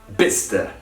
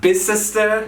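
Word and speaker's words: Bicester: for a deal but it's pronounced bista not bisester not the romanian bichester not by sister you will see this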